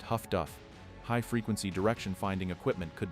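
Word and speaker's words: HF/DF: The other technological revolution arrived in an unassuming black box called HFDF, which sailors pronounced Huff-Duff.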